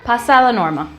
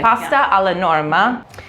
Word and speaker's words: pasta alla Norma: loves that I don't know how to say pasta La Norma Pasta Pasta I should say we are in Italy I should pronounce it correct okay pasta a la Norma this is a very traditional Sicilian dish you'll